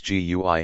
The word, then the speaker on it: GUI: systems use a graphical user interface or GUI pronounced GUI a GUI lets you use your mouse to